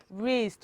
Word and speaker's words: wrist: the last one is wrist while w the first letter is silent were you able to